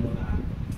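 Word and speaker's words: monarch: जैसे एक वर्ड होता है मोनार्क, होना मतलब पुराने समय के राजा वगैरह होते हैं, स्टमक होता है, ठीक है।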